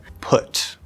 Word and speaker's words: put: There are a couple other random possibilities, but it's uh p p put. But normally we're going to stop that t unless something special happens after it. Put. Put. But put what do you ask?